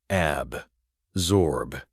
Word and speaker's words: absorb: Absorb. Pronunciation. Ab-zorb.